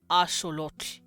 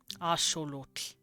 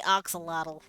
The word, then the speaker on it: axolotl: So it's axolotl. Axolotl. That's how they'd pronounce it. But we say axolotl.